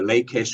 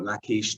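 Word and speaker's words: Lachish: stewarded through and edited the lakish or lakeish depending on how you pronounce it the volumes from the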